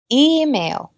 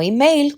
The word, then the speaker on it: email: sílaba lleva stres repitan email no email como en español sino email en la primera sílaba actor easy happy la